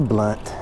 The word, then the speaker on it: Blount: we're on blunt street blount it's spelled lamp but it's a blunt let's go down here